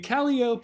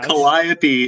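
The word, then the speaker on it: Calliope: a classicist right like that is a standard Greek pronunciation of that spelling yeah Kopi is the more Standard English pronunciation I I'm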